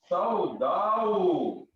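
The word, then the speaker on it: سوداء: सऊदाऊ। सऊदाऊ क्यों पढ़ रहे हैं? इसको सही तरीके से पढ़े ना। सफदाऊ। हाँ, सौदाऊ, सौदाऊ, अलिफ को प्रोनाउंस करें ना तो मुजक्कर और मोनस दोनों के अलग अलग है तरीके का।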